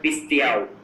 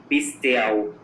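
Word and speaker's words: πιστεύω: Greek word पिस्तियाओ, इसके spelling लिखिए PISTEUO. पिस्तियाओ, PISTEUO.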